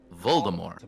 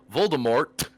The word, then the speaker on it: Voldemort: is a word of French origin, and it is pronounced Voldemort.